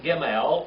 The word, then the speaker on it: gimel: now jamel ml and it's a G or a G H sound it's a hard G or a g8 sound okay it's gimel and edgy like in gold and it's represented by